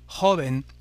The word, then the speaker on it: joven: En espagnol, jeune se dit par exemple de cette façon, se termine par un N, on accentuera donc comme pour les voyelles l'avant-dernière syllabe et on dira joven, el joven.